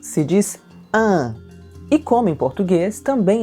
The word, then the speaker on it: une: No masculino, un, e no feminino, une. Une. Presta atenção na pronúncia do U no feminino, une.